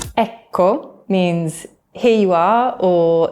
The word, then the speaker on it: Ecco: Double letters are long in Italian, so be sure to drag out the cuh sound. There's almost a little pause between them. Ecco. Ecco.